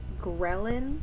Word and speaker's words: ghrelin: One is called ghrelin, I think is how you say it. It's spelled G-H-R-E-L-I-N.